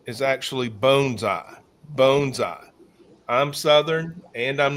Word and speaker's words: bonsai: She said not to be the most obnoxious one in the room, but it's actually bonesai. So if you're if you're wearing your Japanese uh vernacular and accent, it's bonesai. Bonesai is correct.